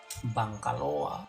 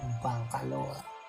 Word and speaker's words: Bangkaloa: Namun karena pelafalan ya pemirsa, pelafalan ini kan kalau mengucapkan Bangkelo ini kan susah gitu, sehingga masyarakat akhirnya mengucapkannya dengan Bangkaloa, kan begitu kan enak, lebih enak kan, Bangkaloa.